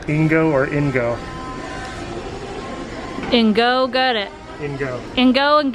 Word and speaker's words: INGO: Spence, can you pronounce what the table's called? Ingo or Ingo? Ingo, got it.